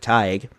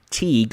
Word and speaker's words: Teague: Now, you might be wondering, why do I say it like Tige? Well, sometime last year during one of the many live streams, I kept saying Teague or something wrong. I was saying the town name wrong.